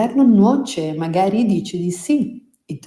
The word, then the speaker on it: nuoce: il male vien per nuocere. Every cloud has a silver lining. Mi piace. As you should know by now, in Italian, a C and an E together are pronounced ce, nuoce.